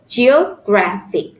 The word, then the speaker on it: geographic: three uh uh syllables geo geographic still the stress is in the second syllable before the end Geographic and with it